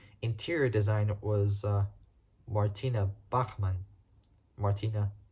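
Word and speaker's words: Bachmann: the head of interior design was uh Martina Bachman Martina bakman which is spelled b a c h m a Ann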